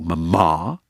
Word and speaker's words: mama: say Mom and Dad mama and papa with the emphasis on the final syllable mama and papa well perhaps